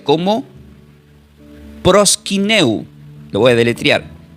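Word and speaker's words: προσκυνέω: Y esta palabra griega, adorar se pronuncia como prosquineu. Lo voy a deletrear. P r o s k dequilo y latina n e o pros quineo.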